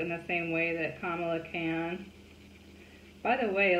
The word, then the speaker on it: Kamala: So I thought it was Kamala, but it's not. So, you know, you just kind of like learn from looking it up. And she was like, it's like comma with the la.